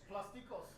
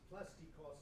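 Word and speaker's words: πλαστικός: Plastikos in classical Greek. Plastiko. We don't say the S.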